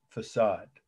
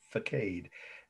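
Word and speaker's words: façade: c-h-a-r-t-r-e-n cathedral facade over as my indiana relatives pronounce it faked f-a-c-a-d-e course that means exterior in architecture shark cathedral facade france 1260.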